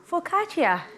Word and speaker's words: focaccia: making that snack right now it's called uh focaccia nice did i say it right yes i